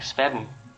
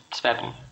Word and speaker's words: Svefn: Okay, as far as I know, the F in English is pronounced like a B, so it should sound like Svefn, kind of like a silent B kind of thing. So it's Svefn, yeah.